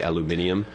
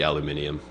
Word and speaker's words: aluminium: There is also the aluminum. British people say aluminium, because we cut out a syllable. It should be aluminium, but...